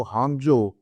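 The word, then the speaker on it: Hangzhou: intelligence company है जो हाजो एच ए एन जी जड एच ओ यू इसको हम स्पेल करते हैं और हाजो लिखते हैं इंग्लिश में लेकिन प्रोनाउंस हाजो करते हैं वहां पर ये कुछ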